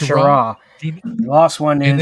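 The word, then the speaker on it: Schirra: Walter Skira. Shara. It's pronounced Shara.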